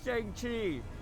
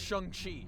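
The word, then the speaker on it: Shang-Chi: I tried helping Shang Chi. First of all, it's pronounced Shani.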